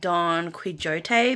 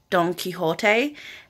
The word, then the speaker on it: Don Quixote: Like, okay, so I've been calling it Don Quixote, but it's actually pronounced Don Quixote.